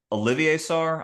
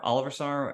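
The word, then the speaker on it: Olivier Sarr: you know the uh is it Olivier SAR Oliver SAR how do you say that I think it's Olivier don't Olivier SAR his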